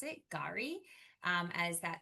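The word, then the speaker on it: K'gari: Gary. Um as that s the K is silent.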